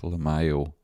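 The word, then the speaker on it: LYMAO: So it's Lamayo. So, like, is that even what it is? L-M-A-Y-O. I think it is Lamayow.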